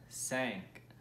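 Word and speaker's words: cinq: saying let's repeat that together three two one sank one more time three two one sank there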